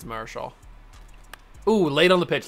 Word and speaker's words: Marichal: All right, Nomar, you've already got 2 home runs today going up against Juan Marichal. Or Marichal, however you want to say his name. I think it's Marichal.